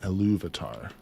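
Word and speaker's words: Ilúvatar: Eluvatar.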